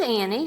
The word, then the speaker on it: Annie: The I and E go together to make the E sound.